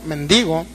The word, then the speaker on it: mendigo: ese sí era mendigo no mendigo mendigo con acento en la y dice que se fue